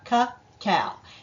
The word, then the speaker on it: cacao: so what is caca and that's how you pronounce it caow it's the raw unprocessed form of chocolate that